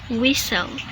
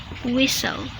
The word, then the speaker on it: whistle: wanted wanted rule number two use silent T when T is in between consonant sounds so the pattern is